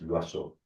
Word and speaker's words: Loiseau: Yo me llamo Loazó. Loazó se escribe Loiseau.